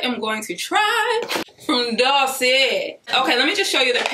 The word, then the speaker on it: Dossier: You gotta say it like that, Dossier. You know, you gotta kinda put that little twang on it.